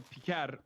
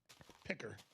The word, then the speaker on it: Piker: It's normally Piker, but still like it's pretty funny that he's going out of his way to deliberately mispronounce it, which I love.